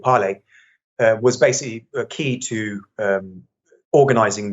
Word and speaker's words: Parler: Parler, the social media app. I think it's pronounced Parler. Yeah, it's spelled Parler, but I think it's pronounced Parler.